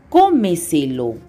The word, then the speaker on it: cómeselo: Por ejemplo, cómeselo. La mayor fuerza de voz es en la anterior a la antepenúltima sílaba.